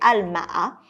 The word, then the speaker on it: Al-Maha: Premier hôtel, c'est un hôtel du groupe Marriott qui s'appelle Al-Maha. Ça s'écrit A-L-M-A-H-A.